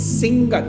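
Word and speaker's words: Sigatoka: Siga. No, it's Singa. Singa, not Sigatoa. Singa. So they just put these random ins into words.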